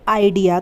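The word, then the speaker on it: idea: आलसी इस तरीके से आइडिया तो इसमें भी आई जो है वो शुरुआत में है तो इसका उच्चारण ए आई होगा तो ये बन जाएगा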